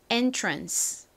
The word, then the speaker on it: entrance: 입구, entrance. 한 번 더 해볼까요? entrance. 좋습니다. 자, 다시 한 번 더 또 강조할게요. 오늘의 핵심. ANCE가 단어의 끝부분에 쓰이면 무슨 소리 난다고요? uns 혹은 ans 소리가 납니다.